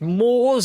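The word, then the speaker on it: Moores: It's Moors as in the plural.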